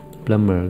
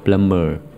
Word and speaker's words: plumber: bơ mà đọc là plumber. Chữ b này là âm câm, không đọc chữ B mà lại đọc chữ M trước, gọi là plumber.